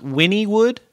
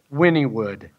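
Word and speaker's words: Wynnewood: a fan public WY in in in it's pronounced Winnie would Winnie would well it has a urgent care and a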